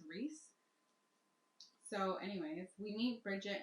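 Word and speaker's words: Rhys: r h y s I just thought it was rich but apparently it's Reese so anyways we need Bridget and Reese I this is the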